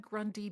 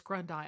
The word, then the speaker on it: Grundai: also on LinkedIn awesome I think I said Grundy before so it's grundai I'm sorry I said